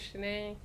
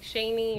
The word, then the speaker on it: Shaneé: Shanae and I just I actually told people how to say my name because everyone was saying like Shaney or Shawnee and so that was my first video and or Shane yeah or Shane and it got like